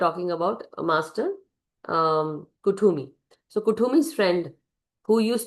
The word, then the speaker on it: Kuthumi: In this, it is also written, Kuthumi, pronounced Kuthumi, is an ascended master, which appears as a very, very well dressed Indian man with golden aura.